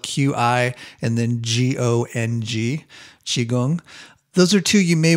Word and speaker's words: qigong: at are tai chi and qigong so qigong is spelled q-i and then g-o-n-g qigong those are two you may want to explore